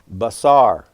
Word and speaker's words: basar: So if we were to look in Strong's, reference number 1319 in the Hebrew, we see this word here pronounced basar, spelled B-A-S-A-R in English, meaning to bring news, announce, or proclaim good tidings.